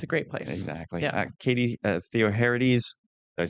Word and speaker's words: Katie Theoharides: Katie Theoharides.